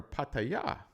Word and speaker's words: Pattaya: So with that, let's go to Pattaya, or Pattaya, as we say it properly, the resort town.